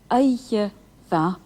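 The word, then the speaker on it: oíche mhaith: Did you notice the difference in pronunciation between the ma in va, ma, a fine day, and va, eiche va, a fine night? Eiche is a feminine noun, so the adjective ma is aspirated.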